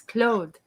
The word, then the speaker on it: Claude: any chance to say claude it is a romantic pronunciation of his name and uh everyone in